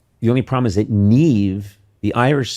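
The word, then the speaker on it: Niamh: We were really thinking of the Irish name Neve, and the only problem is that Neve, the Irish spell it because they love to do this.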